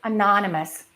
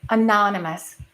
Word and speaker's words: anonymous: Number five, anonymous. We stress the second syllable. Anonymous.